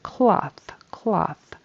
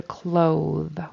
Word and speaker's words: cloth: And then cloth. I heard a clothe with a long O and a voiced TH.